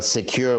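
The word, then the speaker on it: Sekur: us why great well secure which is spelled s-e-k-u-r is our email and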